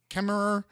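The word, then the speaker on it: Kemmerer: This is in uh Kemmer Kemer. That's how you spell it, but it's Kemer.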